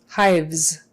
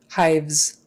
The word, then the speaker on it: hives: tongue forward for Z hives uh the E is kind of silent in there so it just hides the s's as you sound hives